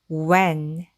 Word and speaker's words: when: 이렇게 적어 주면이 단어는 when이 되고 when은 언제라는 뜻의 의문사입니다. what when 이렇게 읽으시면 돼요. 그래서 이렇게 WH로 시작하는 단어들은 H가 묵음으로 소인지 않고 W에 우 소리만 발음해서 우라고 소리난다고 익혔습니다.